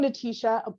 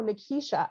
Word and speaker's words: Nekeisha: properly i'd be like oh my name's she's like oh natasha like no nakisha like oh natisha no nekeisha and i would constantly